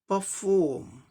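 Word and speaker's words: perform: अब इसी का अमेरिकन में क्या हो जाएगा, आर का रॉ साउंड यहाँ भी आ जाएगा, आर का रॉ साउंड यहाँ भी आ जाएगा, क्योंकि आर का रॉ साउंड कहीं भी साइलेंट नहीं होता अमेरिकन इंग्लिश प्रोनाउंसिएशन में।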